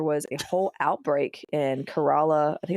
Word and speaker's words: Kerala: from Southern India from Kerala in Kerala in Southern India you know they they they nimbly roll that r as as one does as a native Southern Indian speaker Cara yeah carola for the English speakers